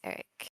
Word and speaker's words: Eric: Yeah, it's the R and the I are backwards, yes. But the correct pronunciation is Eric.